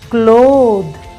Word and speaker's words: clothe: like bath bath cloth clothe so when we want to change the sound of th th to the voiced sound then we add the